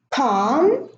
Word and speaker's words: calm: Palm and calm. As you notice, there is an M after the L.